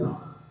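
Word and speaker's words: लं: जब पृथ्वी तत्व को हम आमंत्रित करते हैं, उसका जो उच्चारण करते हैं मंत्र से, वो है लाम।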